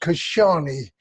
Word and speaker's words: Casciani: right well the name is actually pronounced Kashani I'm an Anglo Welsh